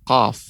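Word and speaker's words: قاف: Banyak ya orang keliru dalam pengucapan qaf, ya, sehingga mengucapkan seperti huruf kaf, ko, kurang tepat, ko, ya.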